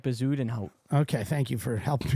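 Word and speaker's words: Bezuidenhout: his last name Christian bazen H it's like bazen H okay thank you for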